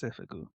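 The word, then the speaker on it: 征服: So school uniform and conquest are pronounced the same, which seifuku, which is these ones right here. So this one right here is the school uniform, seifuku, and this one is the conquest, seifuku.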